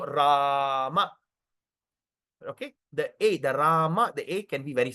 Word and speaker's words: Rama: That's why when we chant Har Krishna, we don't even swallow the word Rama. Example, H Krishna, H Krishna Krishna, Krishna, Hama, Hama, not Ram, Ram.